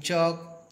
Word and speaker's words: chalk: sunlight it is GH, in chalk L is silent, in calm B is